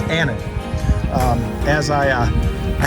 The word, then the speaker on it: Ahten: father did and so how you pronounce this last name is Anon um as I uh